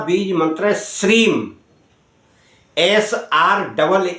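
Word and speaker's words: श्रीं: जाप करना है लक्ष्मी जी का बीज मंत्र श्रीम एस R double E एम अंग्रेजी में बता दिया वैसे हम य लिखकर भी बता देंगे श्रीम श्रीम श्रीम का आप करें उच्चारण और उच्चारण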